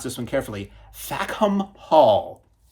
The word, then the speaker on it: Fackham: pronounce this one carefully, FACKHAM Hall. If you pronounce that quickly with a certain British accent, it sounds like something else.